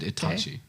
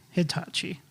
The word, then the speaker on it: Itachi: You should probably figure out how to pronounce Japanese words. Akihabara. Sasuke, Sasuke. and Itachi. Hitachi.